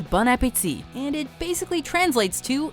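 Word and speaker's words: bon appétit: highlighted by the caption bone Apple tea he doesn't speak French don't speak French to him it'll embarrass him for those of you who don't speak French the proper pronunciation is bunit and it basically translates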